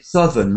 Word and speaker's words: Southern: please South and sou well that one's irregular because we've got northern eastern western but this one is Southern like South is out and Southern Southern a bit like the